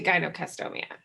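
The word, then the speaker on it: gynecomastia: medical term for this, and my pronunciation might be off on this too, because I've only read it and never heard it, Gynocastomia. Is that right? Yes, that's how I've heard it pronounced.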